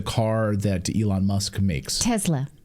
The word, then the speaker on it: Tesla: Tesla. She puts a Z in there. Tesla.